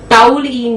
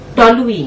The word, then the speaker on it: toluene: टाउलिन नहीं है, टॉलुइन है।